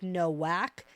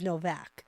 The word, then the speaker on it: Novak: And it's definitely never like Nowak. It's always Novak.